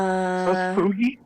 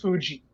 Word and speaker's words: Fuji: So Fugi. Yeah, so has Fugi. Oh my god. I just found out recently his name is pronounced Fuji.